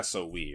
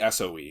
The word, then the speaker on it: SOE: I assume this would be pronounced so. No, it would just be SOE.